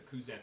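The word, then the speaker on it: Cuzen: it's an interesting design it's spelled c-u-z-e-n okay and it's a cousin matcha and i think that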